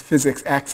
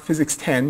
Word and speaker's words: Physics-X: X is um pronounced physics X it's not physics 10 you didn't miss Nine